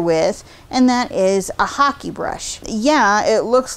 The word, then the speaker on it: hake: and that is a hockey brush yeah it looks like hake like when you see it in the catalogue but it's actually pronounced hockey like the sport hockey's were originally designed